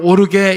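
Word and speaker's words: ὀργή: 것과 관련이 있는 단어예요 헬라어 단어로는 오르게 이렇게 발음을 하는데 여러분이 말은 마지막 심판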